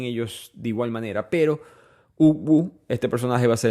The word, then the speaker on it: Ugwu: Todos los personajes son importantes y y creo que profundizamos en ellos de igual manera, pero Ubu, este personaje va a ser el más importante. Ubu se escribe UGWU, es un niño apenas de 13